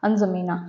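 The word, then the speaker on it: N'Djamena: जो है वो है अजमीना ठीक है अब यहां पर देखो ये जो डी है ना ये साइलेंट है तो इसको हम प्रंस नहीं करेंगे यहां एन और ये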